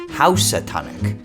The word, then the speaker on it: Housatonic: in and labeling things their ears interpret usia dyanuk as usatonic but hold on because according to some historians it actually was meant to be pronounced more like housatonic but actually also know because an even earlier spelling went oh we antonak meanwhile on the connecticut